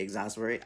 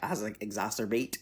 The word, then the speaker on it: exacerbate: could potentially exas or how do you say exasperate exacerbate exasperate exacerbate like the issues